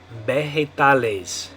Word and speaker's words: vegetales: Now remember, the V is going to make a B sound in Spanish, though. That's one of the things I'm trying to point out here. So anyway, it'd be the word vegetables in English, but in Spanish we're going to say vegetales.